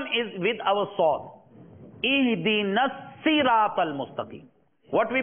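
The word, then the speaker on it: صراط: So here siratal mustaqim, siratal ladina. Both these are wrong. So correct pronunciation is Ihdinas siratal mustaqim siratal ladina.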